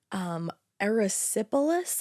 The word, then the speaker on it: erysipelas: No, unfortunately, just weeks after the couple moved into their new home, Susan contracted erysipelas, I believe is how you say it.